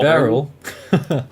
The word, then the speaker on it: Beryl: Yeah, when I first heard about I can't even pronounce the name. Barely? It's only Beryl.